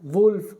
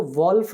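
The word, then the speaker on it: wolf: अब ये double inverted comma में आ रहा है, वुल्फ, वुल्फ, ठीक है। वुल्फ मतलब क्या होता है? भेड़िया। तो इसको वॉल्फ नहीं पढ़ते हैं, दिस इज प्रोनाउंस्ड वुल्फ, ठीक है, वुल्फ।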